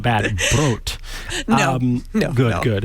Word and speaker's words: Brot: How do you say bread, brot? I check that. I think you mean brot, Mikah. Brot, thank you. It should be an O, brot. not an A.